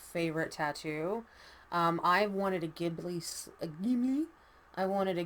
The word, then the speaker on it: Ghibli: I wanted a Ghibli. I wanted a Ghibli or Chipley or however you want to pronounce it, depending on where you're from.